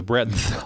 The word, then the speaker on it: breadth: I think you got to pronounce the D. The breadth.